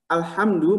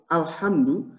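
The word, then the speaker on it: الحمد: Tapi hati-hati ibu-ibu, jangan sampai salah nyebut alhamdu dengan alhamdu, itu dua makna yang berbeda. Dua kata yang berbeda. Hati-hati, karena kita nyebutnya ini yang khusus bahasa Arab itu punya ha, punya ha, ya. Ha dengan ha.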